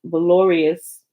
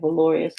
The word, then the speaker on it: valorous: reproach forever, many and valorous, I think that's how you say that, valorous, like things of valor, valorous.